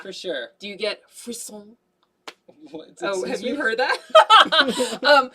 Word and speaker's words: frisson: Do you get frisson? Oh, have you heard that? Bless so yes, bless me. It's spelled like Frisian, like Frisson, but it's like a French word, frisson.